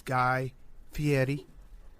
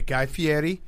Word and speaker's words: Guy Fieri: It is Guy Fietti. I screwed up and I I did the American pronunciation of his name. You gave me a look. We corrected it right away. Guy Fietti.